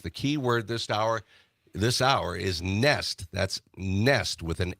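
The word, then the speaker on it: Nestlé: All right, so it's nest, right? Nest. Like a bird nest.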